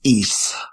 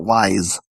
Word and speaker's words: Ys: and Switch 2 is Ease 10, Proud Nordics. That's Ease as in YS, the famed RPG franchise. Yeah. So, if you didn't know, YS is supposed to be pronounced E.